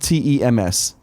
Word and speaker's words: Thames: Phonetically, it's pronounced TEMS.